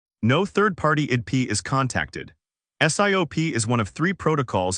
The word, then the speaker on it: SIOP: Today, we're covering SIOP 2, self-issued OpenID provider. The acronym is SIOP, and it's pronounced Siop.